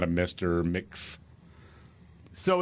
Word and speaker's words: Mx: Like M-I-X without the I.